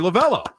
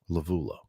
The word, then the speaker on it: Lovullo: And quickly, lavell lavo. They say lavell on the broadcast. It's spelled with a u, but I I always hear lavell, so it's probably somewhere in between.